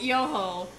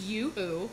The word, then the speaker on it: Yoo-hoo: As my mother calls it Yoho. I hope she's watching. It's Yoo-hoo, Mom.